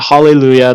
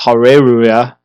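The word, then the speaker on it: Hareruya: I'm pronouncing that right it's not huah it's haruya a little Japanese English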